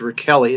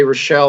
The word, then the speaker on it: Rachele: available wws al RAC hele dot-com it's actually pronounced Raquel II it's Italian but most people say Rachelle Ora Shelly so thank Rochelle with 1l if